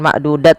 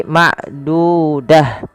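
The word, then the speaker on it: معدودة: Apabila ada ta marbutah terletak di akhir bacaan kita, maka ia diganti dengan huruf ha. Awalnya ma'dudah, kalau dibaca bukan ma'dudat lagi, tapi ma'dudah, ya, ma'dudah.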